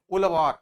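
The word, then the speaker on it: உழவர்: में क्या बोलते हैं, जेड एस का मतलब वहां पे एल से प्रोनाउंस करते हैं, ठीक ना, ठीक ना, तो ये ध्यान रखें, उलवार, ठीक ना।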